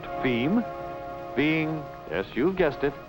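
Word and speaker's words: fim: And as for distribution within Brazil, F-I-M, pronounced FEM, being, yes, you've guessed it, Portuguese for the end.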